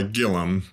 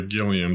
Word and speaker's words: Gilliam: calls it goes by gillum but i generally say gilliam to anyone who might have to spell it so either way works gil isn't there an